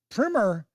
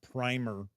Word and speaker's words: primer: Uh, Captain Finity says the online Oxford English dictionary confirms that primmer is indeed the correct American pronunciation.